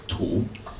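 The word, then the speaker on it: 土: This is earth, tu.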